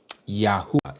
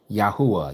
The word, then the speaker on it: Yahuwah: Yahuwah is the way it's pronounced. Yahuwah, Yad-Ha-Uaha.